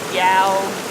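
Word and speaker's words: Iao: The Yao Valley Secret Trail. That's spelled I-A-O, by the way.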